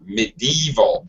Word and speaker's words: medieval: And one more, medieval, middle syllable stress.